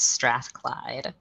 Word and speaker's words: Strathclyde: thank you so much kara and you did pronounce it correctly it is strathclyde um thank you so much for uh inviting